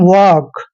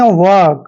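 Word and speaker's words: work: डब्लू ओ आर के इसको पढ़ते हैं हम वक क्या पढ़ते हैं वक यानी आर यहां पर थोड़ा साइलेंट होता है वर्क और यहां पर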